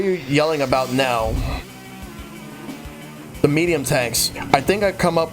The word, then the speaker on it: Md Tank: recon cell heads up mdtec is pronounced medium tank okay all right